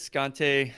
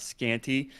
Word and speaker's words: Scante: My name is Scante. Spoiler alert. Spoiler alert. It's pronounced Scante, not Scanty.